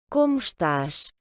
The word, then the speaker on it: estás: à nouveau, comme dans la leçon d'hier, le O final va se prononcer OU, et puis le S, les deux S d'ailleurs dans cet exemple-là, vont se prononcer CH. Parce que le premier S donc, est devant une consonne, le T, et puis on a un S en fin de mot.